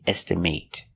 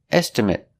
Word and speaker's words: estimate: rooms very good are next example is estimate estimate is the pronunciation when it's a verb example I need to estimate the cost of the job with the long a estimate but if it's not a verb estimate I need to get